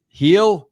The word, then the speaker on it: Gil: Heel. Heel. Heel. The Yankee starter. What's it? How do you pronounce? Oh yeah. I always say Luis Gil, but yeah, it's heel.